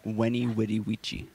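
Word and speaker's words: veni, vidi, vici: gyptian what'd he do you know the phrase veni vidi vici in the time of Julius Caesar it was actually pronounced when he witty vici that's because it sounds less cool yeah and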